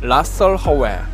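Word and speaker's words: Rasalhague: 짜리 알파 별을 지칭하는 이름에서 치는 묵음 이기 때문에 라 썰 허의 로 발음합니다 이 단어는 아라비아어 라스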